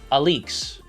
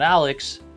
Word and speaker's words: ALYX: Royal Oak Alix Edition it's pronounced Alix not Alex alak only 78 pieces excuse